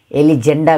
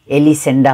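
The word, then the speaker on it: Elisenda: घर मालिकले अनि एलिसेन्डा कसै कसैले यसको उच्चारण एलिजेन्डा गरेको देखेको छु तर यसको उच्चारण एलिसेन्डा हो उ चाहिँ पेलायोको श्रीमती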